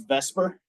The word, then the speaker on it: VSEPR: shell electron pair repulsion which we abbreviate as vesper even though the acronym would be ver but ver doesn't roll off the tongue as well so we call it vesper even though it's not pronounced properly.